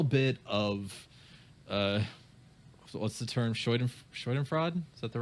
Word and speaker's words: Schadenfreude: Schadenfreude? Is that the right pronunciation? Schadenfreude.